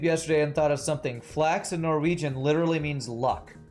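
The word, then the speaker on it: flaks: me on youtube yesterday and thought of something flax and norwegian literally means luck so that is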